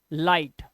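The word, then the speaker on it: light: लेना सुन लो पहले आई के बाद जीएसटी आया तो इसे लाई लाई ये क्या हो गया ये हो गया ला ला पे आ का डंडा और ई पहले तो ये यहां तक हो गया लाई सिर्फ ये इतना वर्ड ही लाई हो गया सिर्फ ये जीएसटी लगने से और जीएसटी को मैंने क्या बोला था जी एच मत पढ़ो लास्ट वाले वर्ड को पढ़ो तो ट लाइट अब यहां पर एफ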